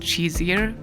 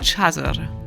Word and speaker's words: Shisr: Shizir is, by the way, not pronounced Shizir, but Shazir.